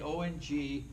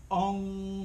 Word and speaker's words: Ong: track the mind so when you pronounce all correctly Ong Ong your tongue comes up against the upper palate the roof of your mouth and it vibrates this frontal lobe of